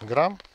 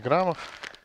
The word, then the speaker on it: граммов: На 10 литров я буду брать 250 грамм. Или, как правильно говорить, граммов.